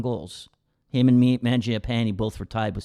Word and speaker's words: Mangiapane: Now, Andrew Mangiapane, is that how you say it? Mangiapane, pretty good.